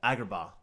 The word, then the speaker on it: Agrabah: Agrabah which is great footage of what Agrabah am I saying it right yeah you said right okay sound like you